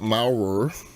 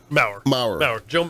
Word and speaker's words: Maurer: Now, Scott Maurer, right? Maurer. Joe Maurer. Like Joe Maurer. Okay, it's pronounced the same. It's just spelled different.